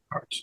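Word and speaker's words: Arzt: that's when you paid Dr Leslie was it Arts is that how you pronounce it Arts yeah all well there was some ARS ARS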